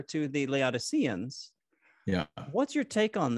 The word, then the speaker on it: Laodiceans: to a letter to the laodiceans or the laodiceans if you want to give a more greek accurate pronunciation there's this reference to